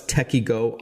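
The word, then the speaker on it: Tekyo: What's Techiego all about? And we should tell our listeners that Techie Go is spelled T E K Y O.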